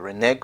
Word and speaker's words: renege: reason why I said I prefer the renege pronunciation is because renege has the neck sound in it which means negative